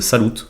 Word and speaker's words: salut: Ou pour dire salut, ils disent salut et ils prononcent juste le T un peu plus fort.